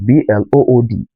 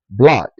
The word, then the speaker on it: blood: Same thing applies to Blood, blood, and not blood.